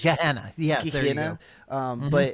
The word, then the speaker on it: Gehenna: It looks more like it would be pronounced Gehenna. It's G-E-H. Gehenna.